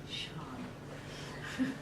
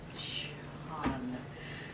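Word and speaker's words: Sian: It's like the word S-I-A-N. Sean. Shan. I've had to spell it S-I-A-A-A-A-N so I could learn how to say it. Shan.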